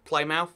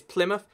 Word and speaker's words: Plymouth: We've got Plymouth over here, or Plymouth, as you might guess, if you're going to get it wrong. But no, it's Plymouth.